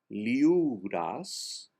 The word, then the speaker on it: liures: Liuras voldriem volar. The R is silent.